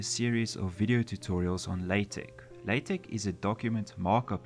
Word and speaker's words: LaTeX: the name is the pronunciation the software is pronounced latex not latex as you might first think in order to